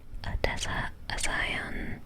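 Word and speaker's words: Odessa A'zion: Odessa Aion.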